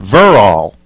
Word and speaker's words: Verrall: this correct is it does the accent sound like verall or does it supposed to sound like verall okay so it's the accent is on the the first part of the verb verall I want to make